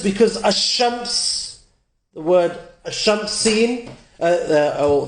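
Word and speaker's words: الشمس: So for example, ash-shams, you don't hear me say al-shams, you don't hear the lam.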